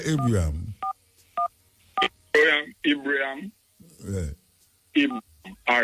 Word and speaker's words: Ibrahim: Pronounce the name for me, because if it's true, so just say Ibrahim, man.